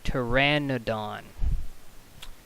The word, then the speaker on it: Pteranodon: for why that is but the the correct pronunciation is Pteranodon so this part here the no part a